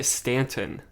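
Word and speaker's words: Staunton: mess it up can you say it uh Stanton Stanton Virginia yeah Nathan salsburg wrote something about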